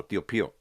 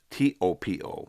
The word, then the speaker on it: Topo: A lot of people mistook that for Tio as in uncle, Pio Pio, right? And he just pronounced it right now, Tio Pio, but it's Topo, right?